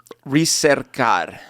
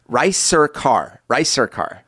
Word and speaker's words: Ricercar: It's a channel called Ricercar. But it's not, it doesn't have anything yet. So as soon as I post... How do you spell that? So it's R, it's like rice, Ricercar.